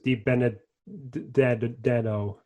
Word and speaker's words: DiBenedetto: How many syllables is DiBenedetto? Okay, so we'll do this together. DiBenedetto, 5. Whenever I say his name, I add 3 extra, so that's why I had to ask you.